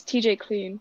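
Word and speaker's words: TJ Klune: right is that the is it by sean how do you say it it's tj clean yeah that one's tj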